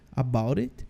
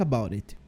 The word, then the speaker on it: about it: All think about it esse T do about a gente meio que pronuncia ele com som de R porque ele está no meio de duas vogais então ele fica assim about it about it fica como se fosse um som de R de Pedro about it agora vamos pronunciar